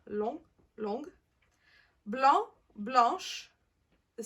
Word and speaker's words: long: low goes to long notice that the masculine the G is silent and the terminology is pronounced long long blonde blush the C